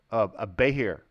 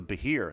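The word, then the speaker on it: behir: to say the word so a bay here or bahir oh so this is a bahir even I said this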